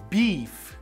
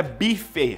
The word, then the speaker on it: beef: Então você pede, por exemplo, uma carne de boi, carne bovina, nós chamamos de beef. Beef. Anote isso daí. Beef não é bife, o bifão, sabe aquele bife com cebola?